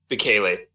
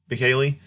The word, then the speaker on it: Bukele: How do you pronounce his last name? Bukele. Bukele.